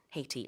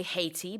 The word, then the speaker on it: Haiti: So it could be the US embassy in Haiti in this case. In English, you can say Haiti, but the original word or the original pronunciation is, of course, Haiti. Yes. So both are correct.